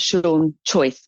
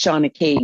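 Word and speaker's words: seanchaí: I might not be pronouncing it properly, but it looks like you've spelt Sean Choice, but it's Shana Key, which is the Gaelic for storytelling.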